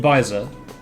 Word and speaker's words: Beiser: so a lesson learned it's called visor like a visor except not spelt that way so that's not very